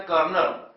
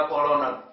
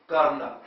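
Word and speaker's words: colonel: उदाहरण बहुत सामान्य है आर्मी की रैंक एक पोस्ट है कर्नल बोलने में हम लोग बोलते कर्नल जबक लिखने में सी ओ एल ओ एन अगर स्पेलिंग के आधार पर उच्चारण करेंगे तो उ हो जाएगा कोलोनल तो यहां पर इसका सही उच्चारण कोलोनल नहीं क्या होता है कर्नल ठीक ऐसे ही जो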